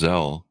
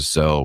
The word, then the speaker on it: Zelle: sent me an email about, I think it's pronounced Zelle.